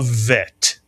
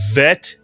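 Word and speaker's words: ב: If you take the dages out of the bet, it is no longer pronounced as a B in English, but as a V in English.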